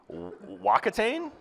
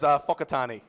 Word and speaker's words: Whakatane: Wakatane? Hey! All right, is that close? Whakatane. That one there is Whakatane.